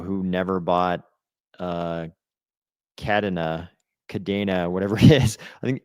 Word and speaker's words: Cardano: Jarie says Kadina. Kadina. That is like the worst one. If they I think they picked the worst pronunciation.